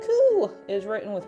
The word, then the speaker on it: く: Ku is pronounced like coo.